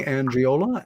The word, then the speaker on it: Angiola: that's me and my guest tonight Tony angiola and Tony my pronouncing your last name correct you are sir